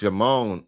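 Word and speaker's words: Djimon: And it might still be French, but the D is silent.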